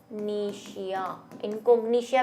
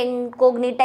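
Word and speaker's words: incognita: ऐसी है ना, इनकोग्निशिया, इनकोग्निशिया भी कहते हैं कुछ लोग, लेकिन मैंने तो भाई एनसीईआरटी में इनकोग्निटा ही लिखा हुआ है और मैंने याद भी कर रखा है उस हिसाब से।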